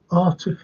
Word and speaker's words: Arctic: Arctic air. Arctic. Wouldn't you think they'd take the sea out of, you know what it says? Arctic. You gotta pronounce the sea, haven't you?